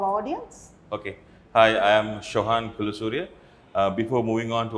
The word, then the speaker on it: Shohan: Hi, I'm pronouncing your name rightly? Shohan.